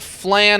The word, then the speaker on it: flan: It looks like flan, but I think technically it's pronounced flan because it's a Spanish dish, right? Flan like lawn.